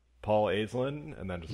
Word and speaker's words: Aislinn: First of all, we are pronouncing it correctly, right? It's Aislinn.